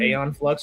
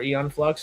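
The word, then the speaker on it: Æon Flux: I think apparently it's eon flux. I have mis mispronounced that the entirety of my 27 years.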